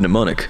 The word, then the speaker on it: mnemonic: x y and z same greek root as the word mnemonic the m is silent in her bag her